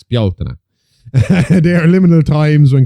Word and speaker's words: Bealtaine: In Irish myth and later folklore, the festivals of Samhain and Bealtaine, that's how it's pronounced, the Americans, Bealtaine, the one you keep calling Bealtaine, that's Bealtaine.